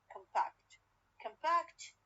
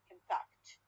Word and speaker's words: compact: We have for example compact. compact الستريس على المقطع الثاني تلاحظون compact. اوكي. لكن من اضيف disk راح وين تتحول؟ يتحول لي على اولا على الفيرست syllable بالنسبه لها، والبرايمري الثاني على الديسك الثاني الكلمه اللي انا ضفتها. compact disk. So this is called stress shift.